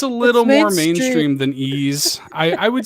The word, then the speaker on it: Ys: You say it like Ys. Yeah, Ys.